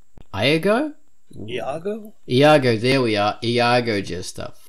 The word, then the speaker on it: Iago: Iago. I think that's how it's pronounced. Iago? Iago? Iago, there we are.